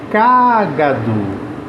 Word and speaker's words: cágado: já no caso de cágado cado cagado eu tenho a min antepenúltima sílaba mais forte que é o k e aí nesse caso